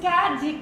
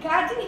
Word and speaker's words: Kadi: Her name is Kadi. Kadi Hiro. Where are you, Kadi? Oh, that's me. It's pronounced like Katie.